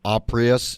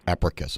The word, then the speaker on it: Apricus: joined on the show with richard pascoe ceo oprius did i pronounce it correctly richard no uh it's africa bio sciences sounds greek you're close abracus all right thanks for helping me out with